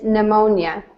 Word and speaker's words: pneumonia: The P is silent. It's pneumonia.